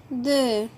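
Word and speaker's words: deux: زيرو زيرو زيرو اللي هو صفر، أ واحد، دو الإكس يا ولاد مش منطوقة في الآخر، نركز في النطق.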